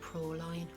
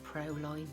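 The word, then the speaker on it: Praline: It's called Proline or Proline, whichever way you want to pronounce it.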